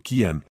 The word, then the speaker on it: Kian: El alfa pronunciado Kanan era un hombre que caminaba sobre el filo de una navaja.